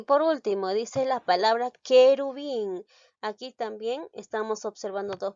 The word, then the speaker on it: querubín: U y la E, pero pronuncia la palabra querubín. ¿Estoy pronunciando la U? ¿Esta U lo pronuncio? No. Por lo tanto, aquí no hay dos vocales seguidas, solamente hay una. Entonces, esta palabra no tiene diptongo, porque recuerda, el diptongo se produce cuando hay dos vocales seguidas. Y en querubín no pronuncio la U.